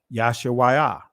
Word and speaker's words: Yahshua: pronounce that y 'all there was no a sounds it'd be yah Shah wa right yahshua right that's how you pronounce this here yahshua all right but anyway